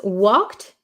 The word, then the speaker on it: walked: could you please pronounce walked it's it makes me difficult to pronounce it it's difficult to pronounce right so this one in this word the L is silent we do not say the L okay and the last